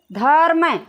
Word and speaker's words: धर्म: तो धर्म जब हम उच्चारित करते हैं तो जो रय होता है वो आधा निकलता है, अर, ठीक है। अर का जो है उच्चारण होता है, ठीक है, रय का। तो ये आधा है तो हम इसको यहाँ आधा लिख लेंगे, ठीक है।